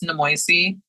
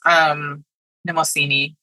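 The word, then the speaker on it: Mnemosyne: So in my head, it's Nemoisi, which is wrong. It's Nemosini. Nemosini.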